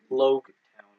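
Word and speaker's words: Loguetown: That's where people are, but you also have to pronounce it like log. Because of the Because log pose. they log the people that are going to the Grand Line there. So it's Logue Town.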